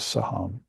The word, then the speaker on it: saham: all of existence is saham. She I am if you can find that truth and meditate upon her with that bum saham. It's actually two syllables.